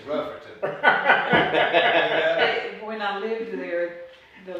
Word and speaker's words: Rutherfordton: from a place called rutherfordton uh you put way too many syllables in that it's just rougher when i lived there